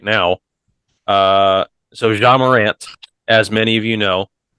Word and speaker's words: Ja Morant: Would you like me to say it? Ja. Yeah. Is that how you pronounce his name? Yeah. Ja Morant.